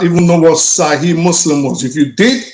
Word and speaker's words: Sahih: It's not Sahih, it's Sahih.